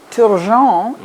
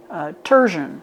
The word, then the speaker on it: Turgeon: Turgeon is how it's pronounced in French, Yeah. but the English call me Turgeon.